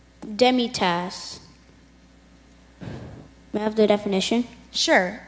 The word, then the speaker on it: demitasse: his an pays an pays164 badge number 32 demitasse demitasse have their definition sure it's a small cup